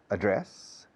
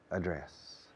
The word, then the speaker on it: address: your address remember remember there are two pronunciations for direction address and address i personally recommend address because the verb is to address to address to address